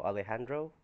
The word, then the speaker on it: Alejandro: big le Andrew Andrew that's je pronounced as H silence H so Alejandro 21 damage to our